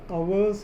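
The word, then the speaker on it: hours: तो away in Northland where the आवर्स ऑफ द डे आर फ्यू. कुछ लोग हावर्स पढ़ता है, मैं भी कभी कभी पढ़ता हूँ, लेकिन उसका ओरिजिनल प्रोनाउंसिएशन आवर्स.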